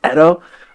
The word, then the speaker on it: Edo: in Edo Japan okay that's how you pronounce it right or is it Edo it's Edo oh you can say yo